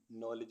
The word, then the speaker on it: knowledge: KNOWLEDGE नॉलेज means ज्ञान। ऐसे words जिनमें अल्फ़ाबेट जी साइलेंट रहता है।